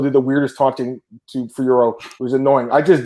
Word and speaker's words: Fiorot: Was perfect by Fiorot, and what's the weird pronunciation on the broadcast with the Fior? This man, it's Fiorot. It's not that hard.